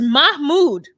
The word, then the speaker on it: Mahmoud: It's Mahmoud. Mahmoud. Or as the gays call him, Miss Mood. Anything but Mahmoud or Mahmoud. There's no C or K in it.